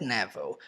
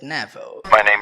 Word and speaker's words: Neville: ele pronunciou essas palavras ele pronunciou mais ou menos assim My name is Neville My name is nevel nevel surv New